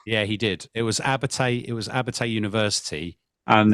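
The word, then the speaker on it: Abertay: I can't pronounce it. Abbate. Yeah, I thought it said Albatross. Yeah, he did. It was Abbate.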